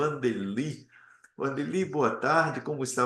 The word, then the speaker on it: Wandeli: Porque às vezes o W tem som de V também, né?